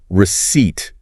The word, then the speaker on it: receipt: Okay, receipt. That's the little piece of paper you get after buying something. Proof of payment, right? Keep it for returns. Exactly. And that P, silent.